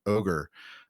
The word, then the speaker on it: OGR: But for example, there is a software library called Goodle and Ogre, or GDAL and OGR, depending on how you like to pronounce those.